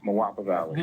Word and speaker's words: Moapa Valley: say it so everybody can hear it I pronounce it as mapa mapa Valley mapa Co coach Lewis has been down my